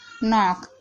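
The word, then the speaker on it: knock: जैसे कि नो, not, knife, नॉक। तो यहाँ पर देखिए शुरू में सबसे पहले के आ रहा है, उसके बाद एन आ रहा है, तो इन सभी वर्डों में के साइलेंट है।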